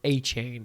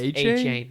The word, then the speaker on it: Etienne: And also lost Travis Etienne, another first or Achain, who he to he Did y'all see that video? He said my last name is pronounced Achain. No, he literally said my last name is pronounced Achain.